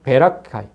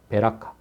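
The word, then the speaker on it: ברכה: 그것을 브라가 골짜기라 읽더라 브라가의 정확한 발음은 베라카 베라카 그 의미는 축복이란 뜻입니다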